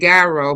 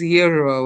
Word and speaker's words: gyro: Some of y'all know pronounce it gyro, but that's not gyro gyro. That's not really how it's supposed to be pronounced. That's the pronunciation. It's euro or euro.